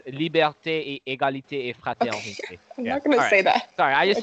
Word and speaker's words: liberté: actually I mean it's the way you were pronouncing it kind of sounds like Latin but you know Latin has different ending it's liberté égalité a sorry I just touch it I